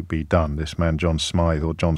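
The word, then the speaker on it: Smyth: SMI or John Smith it's spelled with a y a couple one of one of you telling me to pronounce it as Smith but I've heard everyone else pronouncing it as SMI all morning um I have some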